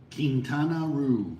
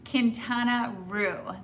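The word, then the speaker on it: Quintana: And Bennett, how do I pronounce Kintaroo? Kintana. Kintana.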